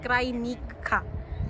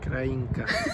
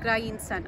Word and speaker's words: Krajinka: We are finally here in our first destination called Salas Krajinka. Krajinka. Krajinka. At least it's not Krajinca now.